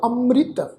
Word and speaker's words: अमृत: एड़े उत्ते टिप्पी की मात्रा तुसीं देखो जिहड़ी मम्मे नूं सिहारी लगी हुई आ वो रारे नूं सिहारी ला के उच्चारण होएगी, क्योंकि पैर विच अद्धा रारा लगा होया। तो इसका पाठ उच्चारण होएगा अमृत, राइट।